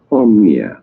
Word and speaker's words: Omnia: that one is and this is how to say it Oh Mia omnia and omnia is a